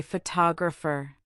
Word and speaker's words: photographer: For example, say the word photograph. Now say photographer. Finally, say photographic. Notice how the stress shifts.